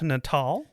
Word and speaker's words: Natal: Before we move further, it is pronounced Natal. It is Natal. It's named after a city in Brazil. Okay. It is not natal. A lot of people get that confused because natal means like rebirth or whatever.